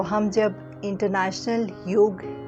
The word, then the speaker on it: योग: आज इंटरनेशनल योग डे है। यस, इंटरनेशनल योग डे, ना कि योगा डे। योगा एक गलत प्रोनाउंसिएशन है। योग वर्ड है, एक संस्कृत वर्ड।